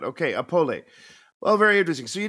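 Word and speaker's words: Opole: pronounce the city name opoli apollo okay if you pronounce the e at the end or not okay apolly well very interesting so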